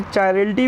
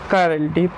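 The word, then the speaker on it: chirality: कई लोग इसे चायरलिटी भी बोलते हैं, लेकिन जो प्रोनाउंसिएशन है वो है इसकी कायरलिटी।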